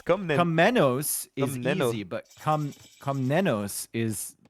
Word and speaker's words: Komnenos: The last N is difficult to pronounce it. It's like you think you're done with the word after the MN, and then you have another N coming to finish you.